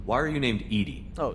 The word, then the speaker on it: EDI: why are you named edie oh edie is the phonetic pronunciation of edi that is an acronym for enhanced defense intelligence defense intelligence where are